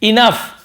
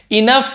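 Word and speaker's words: enough: मेरे पास नहीं है इनफ inagani पड़े एन पढ़ेंगे फ ऐसे उच्चारण होता है इनफ यानी काफी या पर्याप्त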